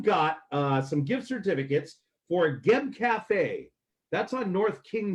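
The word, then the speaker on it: Guieb: Anyway, Geb is spelled G-U-I-E-B. So you wouldn't be like Gooey-eb. It would be Geb.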